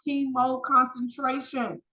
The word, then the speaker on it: hemoconcentration: The last H word is pronounced hemoconcentration.